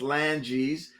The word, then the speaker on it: Lange: Phalanges, fingers in the bone. And you just take the first 2 letters off. It's Langes.